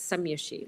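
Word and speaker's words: Scomjassy: actually spelled s-c-o-m-j-a-s-s-y and we pronounce it some Yoshi like some you see and some you don't it was a very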